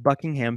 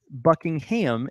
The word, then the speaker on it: Buckingham: Queen she lives at Buckingham Palace but it's not Buckingham it's Buckingham Buckingham kind of like Birmingham Alabama so it's Buckingham Palace